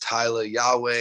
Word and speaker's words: Tyla Yaweh: a w e h pronounced tyler yahweh you can find that